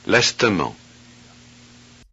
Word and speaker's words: lestement: Are the underlined E's in words 1 and 2 pronounced? parvenir, lestement, The answer is yes.